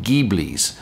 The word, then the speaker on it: Ghibli: Both of the Ferrari drivers were driving Maserati Ghiblis. That's how you pronounce it.